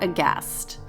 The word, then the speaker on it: aghast: Instagram at cast underscore aghast remember there's a silent h uh